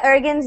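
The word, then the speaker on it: Ercan: I always say Ergen's name wrong. It's Ergen, right? Like the C is like a J, like a G.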